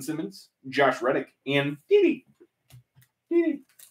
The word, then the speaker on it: Didi: Didi. I believe it's pronounced Gigi. It is not.